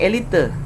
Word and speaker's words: elite: Penulisan ini ya, elite menjadi elit, dari bahasa Belanda elite ini ternyata diserapnya dibacanya memang elite. Jadi ada E-nya. Di bahasa Belanda dibacanya elite, ada E-nya di situ.